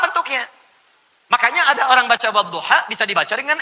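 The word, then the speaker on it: والضحى: Bacanya A. Saya pernah bacakan pada orang Afrika yang biasa baca pakai E. Dia pakai E, saya baca pakai A.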